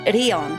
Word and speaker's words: Rion: It's written as this kanji, but pronounced Rion.